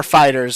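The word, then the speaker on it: FighterZ: Or Fighters, however you want to pronounce it. I've always pronounced it Fighter Z, and I'm going to keep pronouncing it that way. Even though Fighters is actually accurate. When Bandai Namco themselves present it, they're like, the newest season of Fighters. So it's canonically it's Fighters, but I'm going to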